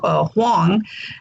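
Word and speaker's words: 黄: My Chinese name is Huang, in Mandarin, Wang is pronounced Huang, which means royal.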